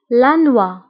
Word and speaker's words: la noix: الجوز لانوا لانوا لانوا. لا نوا كنكتبوها بإكس آخر الكلمة ولكنها لا تنطق. لا نوا.